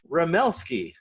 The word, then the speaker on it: Remelski: podcast and today my special guest is ramelsky i'm i'm going on a limb did i get the pronunciation right yeah you did pretty well yeah